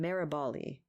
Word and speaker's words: Maraboli: That's from Life, the Truth, and Being Free by Steve, I think he pronounces his name Maraboli.